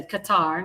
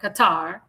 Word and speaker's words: Qatar: That's how you say Qatar, not Qatar. Qatar. That's that's how the Arabs pronounce it.